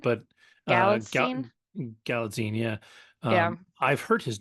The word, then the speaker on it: Galitzine: I think it's I've pronounced heard his name a lot, Galitzine. but Galitzine. Galatzine, yeah.